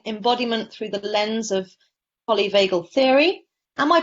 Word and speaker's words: polyvagal: Stephen Porges doing embodiment through the lens of polyvagal theory. Am I pronouncing that right?